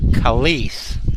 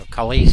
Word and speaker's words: Khalees: I think it's Khalees. It looks like Kelsey. That's right. I think that's right. So Khalees Harris.